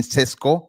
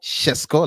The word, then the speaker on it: Šeško: Once again guys, again another episode of Benjamin Cesco Shesco, let me pronounce it as a Slovenian.